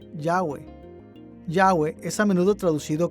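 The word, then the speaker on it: Yahweh: arqueológicos han indicado que este término debe ser pronunciado yagüe yagüe es a menudo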